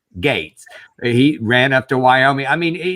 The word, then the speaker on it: Gaetz: Liz Cheney, and then Matt Gaetz, Gates, or whatever the fuck his name is. How do you say it? Gates.